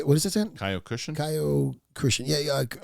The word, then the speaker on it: Kyokushin: Kyokushin. Yeah. Correct. I'm not gonna pronounce it right.